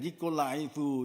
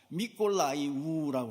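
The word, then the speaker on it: Mykolaiv: 하는 곳이에요 요즘에 이름으로 옛날엔 니콜라이브 이렇게 발음을 했는데 요즘은 우크라이나 말만 쓰도록 되어 있습니다 니콜라이 우라고 하는 그곳에서 교회를 맡아서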